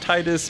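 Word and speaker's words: Tidus: really really good and his name should be pronounced Titus because it's like tied because of water I'm just saying Otherworld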